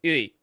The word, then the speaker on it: Wii: It was named after the Wii, which in Japanese is pronounced like Ui.